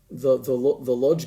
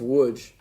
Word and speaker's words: Łódź: We went to Auschwitz-Birkenau several times, and the Warsaw Ghetto, and the Lodz Ghetto, pronounced Łódź, the Krakow Ghetto.